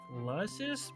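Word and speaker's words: Lusus: It's pronounced Lussus, but yes.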